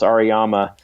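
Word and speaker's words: Auriemma: In fact, I was just watching a little clip from the Connecticut women's coach, Jean, I think it's pronounced Ariyama. Amazing coach, amazing, the best women's college basketball program.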